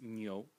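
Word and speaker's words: 牛: And the bottom part of the character, which is a different color, this one here, which today is written like so, is pronounced nyo, nyo, and it means ox, ox.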